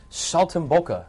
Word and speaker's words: saltimbocca: joining us on the road show today Chicken Salt and boka did I pronounce that correctly yes you did not bad